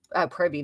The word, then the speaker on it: privy: You say privy, not pervy, yeah.